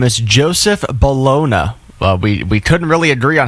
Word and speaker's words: Joseph Bologna: His name is Joseph Bologna. We couldn't really agree on how to pronounce it, so I asked Google, and they said it is Joseph Bologna.